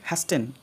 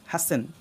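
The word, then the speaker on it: hasten: ফাস্ট ফাসেন next অনেকে উচ্চারণ করবে হ্যাস্টেন এটা ভুল এখানে উচ্চারণ করতে হবে হ্যাসেন হসেন ওকে নেক্সট অনেকে উচ্চারণ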